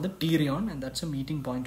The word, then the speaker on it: pterion: EDH is called the pterion, and that's a meeting point of four bones on the lateral aspect of the skull. So remember, temporal bone, middle meningeal artery, and pterion, it's spelled with a P.